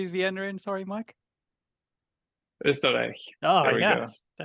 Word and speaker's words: Österreich: Österreich.